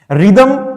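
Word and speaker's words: rhythm: silent हो जाता है रिदम में भी एच साथ में आ रहा है साइलेंट हो जाता है r के साथ यहां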